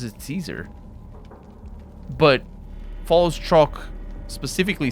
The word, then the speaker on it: Caesar: he would say kaiser in his vain attempt at pronouncing it properly in latin because you need to tap the rs and yeah that's that's